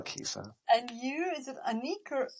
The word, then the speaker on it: Anik: And you, is it Anik or Anik? It's actually Anik.